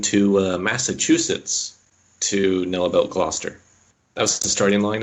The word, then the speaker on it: Gloucester: When there was the cheese challenge in Quebec, and I think it was Megan who pronounced it Gloucestershire. Gloucestershire? It was Gloucester, yeah.